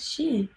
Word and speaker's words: Shee: So please welcome Ed Shee.